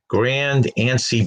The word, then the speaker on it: Grand Anse: Okay, this is the top one is a picture of a beach called Grand Anse Beach. That's spelled A-N-S-E.